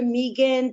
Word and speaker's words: Migan: saw my pronouncing that right yeah doctor huh um it's actually Meegan because I kept my last